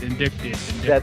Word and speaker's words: indicted: Every single one of these, indicted. That's how you pronounce it, indicted. The C is silent.